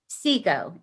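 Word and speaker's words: SEAGO: arizona government's organization and you pronounce it ceo sigo s-e-a-g-o and then we always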